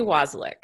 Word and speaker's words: Wasylyk: Wasylyk. Wasylyk. Okay, I was so close. I was thinking it was like basilisk, only Wasylyk.